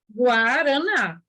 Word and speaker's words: Guaraná: Só que GU não é dígrafo, porque a gente não fala Guaraná. A pronúncia certa não é vou tomar um copo de Guaraná, né? A pronúncia correta é Guaraná, certo?